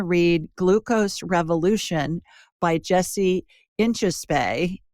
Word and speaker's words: Inchauspé: Glucose Revolution by Jessie Inchauspé. I think that's how she pronounces it. Inchauspé, I think is how she pronounces it. It's French.